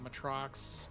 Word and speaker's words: Matrox: in 1999 you know matrox was still very much active contender bugs i keep saying the name wrong matrox correctly um but uh yeah they